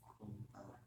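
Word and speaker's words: こんばんは: konnichiwa, 저녁 인사 곤방와. konbanwa, 스펠링 곤방하. konbanwa, 절대로 둘 다 앞에 땡땡이 있다 없다? 없습니다. 땡땡 붙이지 않도록 해주세요.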